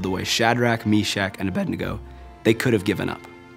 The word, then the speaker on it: Abednego: That's how you say it. Abednego. Nego.